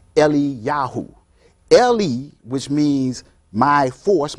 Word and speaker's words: Eliyahu: We have people who even took on that aspect of their name, like Elijah, which is pronounced Eliyahu.